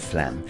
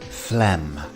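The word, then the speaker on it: phlegm: at the pronunciation of Flem and as you can see on screen the pH is pronounced as an f and we have a silent G so this word is quite deceptive Flem next up we have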